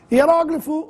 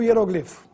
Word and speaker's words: hieróglifo: use duplex sem acento hieróglifo ou hieroglifo não é preciso desse a forma correta pois Ambas estão certinhas mas é melhor não usar o assento quando quiserem pressionar melhor falar hieroglifo mesmo necrópsia ou necropsia com